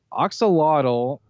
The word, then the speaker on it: axolotl: the receipts right here axolotl actually is an amphibian Oh show you a cute little thing anybody wants to look that up it's spelled ax o L o TL it's a really cute